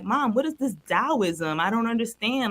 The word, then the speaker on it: Taoism: Mom, what is this Taoism? I don't understand. Like, and Taoism is spelled with a T. So it's like, you think it's Taoism when you're little.